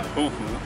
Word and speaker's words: fuu: two main calls the fuu and the fua fua fua fua uh the fuu is pronounced more like a hooo it is uh it's